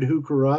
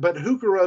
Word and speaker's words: heuchera: The purple Pallas heuchera, which is a hybrid heuchera or heuchera, you've heard it pronounced.